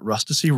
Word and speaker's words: Rustici: She goes, guys, if anybody ever asks you how to pronounce Rustici, you just tell them that Rustici rhymes with ecstasy.